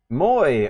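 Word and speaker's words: Můj: Moy. Okay. Maj is pronounced Moy.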